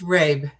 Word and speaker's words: Rabe: Is it Rae or Rabby? It it's Rae. Yeah. Okay. Yeah, it's phonetically correct. So, yes, it it it is. It depends where you come from. When we go over to Europe, they say Rab and Okay.